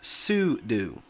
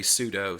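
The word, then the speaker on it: sudo: described both ways so the quote on quote correct pronunciation is sudu however when you look at it it looks like pseudo and a lot of people in the Linux Community say pseudo so I've kind of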